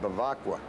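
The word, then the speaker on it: Bevacqua: I said, how do you pronounce this name? He said, Bavacqua.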